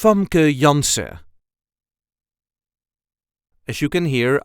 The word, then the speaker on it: Janssen: Dutch pronunciation is f yans as you can hear I do not pronounce the N at the end if you want you can and it will sound like this F yanson there is a slight